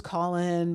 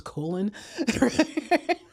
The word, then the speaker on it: Colin: "Well, my name is Colin, but uh, and my parents like wanted to spell it, you know, this unusual way because they're afraid people pronounce it as colon."